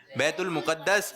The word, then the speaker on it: بیت المقدس: بیت المقدس۔ بیت المقدس، کچھ لوگ کہتے ہیں بیت تو یہ تلفظ جو ہے یہ صحیح نہیں ہے، بلکہ درست تلفظ کیا ہے؟ بیت المقدس۔ آپ کا جواب درست